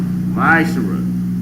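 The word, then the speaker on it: מעשר: It means 10th in the Hebrew and it's pronounced Ma'ashara.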